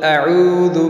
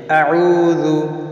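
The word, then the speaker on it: أعوذ: আইন হলকের মধ্যখান থেকে, আউযু আউযু, জাল পেশ দু, জিব্বার আগা সামনের উপরে দুই দাঁতের আগার সঙ্গে লেগে জাল উচ্চারিত হয়, উচ্চারণটা লক্ষ্য করি, আউযু আউযু আউযু, এই জাতীয় উচ্চারণ না করি তাহলে অশুদ্ধ হবে।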